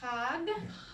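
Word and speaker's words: חג: So, chag. Remember, when you're first trying, make it ugly.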